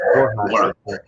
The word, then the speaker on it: Borja: Yeah, Borja. Borja.